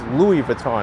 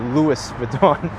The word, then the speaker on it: Louis Vuitton: now i'm confusing myself it's louis vuitton not louis verdon i'm mixing up the sarcastic pronunciation with the official pronunciation now oh dear here's